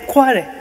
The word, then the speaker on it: Kwale: And then he was trying to pronounce Kwale, Kwa, Kwa, Kwa. And then we all said Kwale.